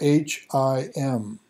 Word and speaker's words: HIM: his Imperial Majesty or h-i-m and that's pronounced him and believed to still